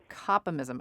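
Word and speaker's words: Kopimism: wrote on copy mysm is that how you pronounce it complem ISM yeah that's right coppa mysm a new religion that was recognized in Sweden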